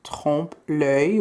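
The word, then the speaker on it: trompe l'oeil: if anyone was unsure it is pronounced home play which means to trick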